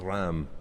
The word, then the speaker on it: Reims: You were digging yourself into a hole there, but I want to hear Richard have a stab at the pronunciation of this. Ram.